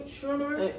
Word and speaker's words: Schumer: Schumer.